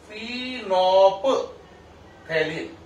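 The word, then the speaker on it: phenolphthalein: देखो फिनोप थैलिन फिनोप्थिलिन, फिनोप थैलिन फिनोप्थिलिन, ठीक है। इसमें एल और एच जो है वो साइलेंट है।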